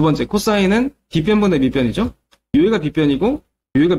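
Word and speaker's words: cosine: 얘는 뭐라고 부르냐면 코사인이라고 읽어요. 코사인. 코스 아닙니다. 코스 아니에요. 코사인이에요.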